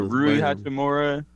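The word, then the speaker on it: Rui Hachimura: has like developed uh Rue hachimura yeah I think that's how you say it oh yeah you got it on the head that was crazy I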